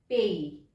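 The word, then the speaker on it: pays: and country country को French में बोलते हैं पेई पेई जो अकाउंट्स वाले बच्चे वो होता है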